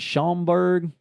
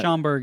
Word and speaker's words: Schaumburg: Appreciate that, but is that Schaumburg? Maybe I'm pronouncing that. Schaumburg, Illinois.